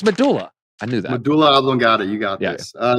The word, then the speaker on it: medulla oblongata: our next guest don't you tell them what a Buddha oblongata I don't even know how to say it